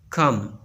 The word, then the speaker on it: comb: Silent B. B is not pronounced when following M at the end of a word. जब B से पहले M आता है तो बी को प्रोनाउंस नहीं किया जाएगा। क्लाइम, क्रम, डम, कम, बी प्रोनाउंस नहीं किया जाता।